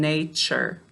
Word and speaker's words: nature: sound if it's after it will often change it to a ch sound so listen nature all right so we